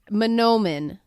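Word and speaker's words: manoomin: If you wanted to say it slowly and practice your p pronunciation. Man. And when you read it, it looks like manuman, but you want to get the no in there.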